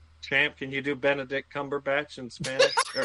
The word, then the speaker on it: Cumberbatch: I just I pronounced it phonetically. Cumber Cumberbach. Cumberbatch. Cumberbatch. Say with a British accent at least make it sound right.